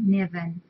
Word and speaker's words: Niven: Niven, I think I'm pronouncing it right, Niven.